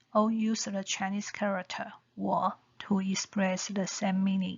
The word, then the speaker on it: 我: The Zhuyin phonetic symbols of 我 are 乌 plus O plus the third tone equal to 乌 O 我我 the third tone 我.